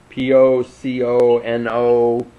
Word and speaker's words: Pocono: Did I pronounce that right, Tim? What was it? Pontchartrain? Pocono.